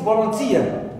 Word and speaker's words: volunteer: word also it is volunteer TI is the last syllable in this world and it is stress so you see here